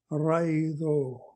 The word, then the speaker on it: Raido: So right, raido. So this is how we pronounce this one. Raido.